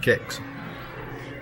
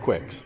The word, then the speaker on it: Kicks: here and we have we have determined that it's pronounced kicks no I always called it Quicks but it isn't Battle Zone space amators